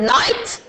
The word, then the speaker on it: knight: Number 13, you have the word knight and it's written knight. Here the K is silent.